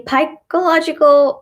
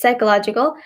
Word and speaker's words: psychological: l OG IC al people might say pike illogical or for psychological but it's psychological betta basically kind of silent at the beam is psychological similarly archie psychologist ma